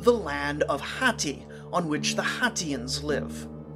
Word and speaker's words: Hatti: cities, they'll still be called the people of Hatti, which the Israelites are going to mispronounce in the Bible as Hittites.